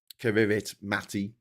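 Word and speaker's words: Kiritimati: into before, which is looks like Kivit Matty uh which is just pronounced Christmas Island.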